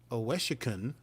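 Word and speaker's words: Owosekun: But Oweshikun is how it's pronounced.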